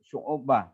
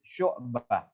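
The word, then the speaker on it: شُعْبَة: Kemudian membacanya bukan syu'ubah tapi syu'bah.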